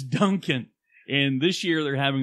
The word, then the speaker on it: Duncan: town that we know that we can pronounce mainly because it sounds like Dunkin Donuts is Duncan and this year they're